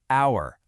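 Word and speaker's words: hour: The H is silent. The first sound you actually make is a vowel sound, our, honest.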